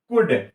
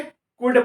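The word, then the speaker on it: could: देखिए इसको क्या पढ़ेंगे कुड पढ़ेंगे और यहां पे एल के बाद डी आ रहा है इसलिए एल का प्रोनाउंस नहीं करना है एल का उच्चारण नहीं करना है सीधा बोलना सीओ यडी कुड सीओ यडी कुड यानी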